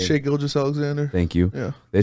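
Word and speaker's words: Gilgeous-Alexander: you say his name shake gil just alexander thank you yeah they said they would have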